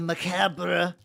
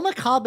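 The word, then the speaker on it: macabre: leans more at the macabra I know it's maab I know I'm around listen I know maab is the correct pronunciation I get a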